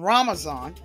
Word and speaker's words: ramazan: ramazan in Turkey uh Turks pronounced Ramadan ramazan so I'm going to read